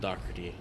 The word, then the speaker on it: Dougherty: And, it's spelled like Dougherty or Dougherty, but it's pronounced Dougherty.